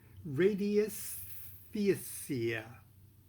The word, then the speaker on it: radiesthesia: art and science of radiesthesia. I have no idea how to pronounce that, so I'm going to spell it for you. Radii, R-A-D-I-E, S-T-H-E-S-I-A. Radiesthesia. I doubt that's how it's pronounced.